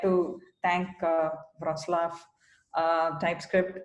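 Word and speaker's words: Wrocław: And, first off, I would like to thank Wroclaw TypeScript. I worked a lot on pronouncing that close to how you would pronounce it, but yeah.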